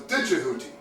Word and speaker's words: Djehuti: In fact, the old way of pronouncing Jehuti's name was Djehuti.